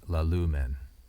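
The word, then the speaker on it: λαλοῦμεν: It therefore stays on the contracted syllable, and because the contracted syllable is now naturally long, it's a diphthong, u, the acute that would have been there is transferred to a circumflex, thus la lumen.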